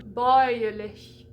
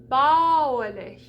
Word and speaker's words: bäuerlich: If it didn't have those two dots, that umlaut, it would be bauerlich. So we get ow, oi, ow, oi. So those two dots tell you to change the pronunciation of an AU combination, okay?